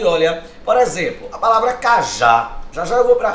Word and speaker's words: cajá: A palavra cajá, olha, é um dissílabo, é um termo que tem 2 sílabas. Perceba, a sílaba tônica é a sílaba, é a última, né?